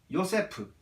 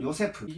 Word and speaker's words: 요세프: 그리고 그 다음 마지막으로 요세프. 이건 히브리어 발음으로는 요세프.